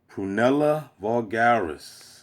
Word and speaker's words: Prunella vulgaris: Prunella Vulgaris. That's how you pronounce it.